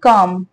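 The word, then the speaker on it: calm: ठीक है वह रहा काम सी ए एल एम इसमें जो एल होता है वह साइलेंट होता है ठीक है इस वर्ड को क्या प्रोनाउंस करते हैं हम काम हिंदी वाला काम नहीं लिश वाला काम ठीक है काम का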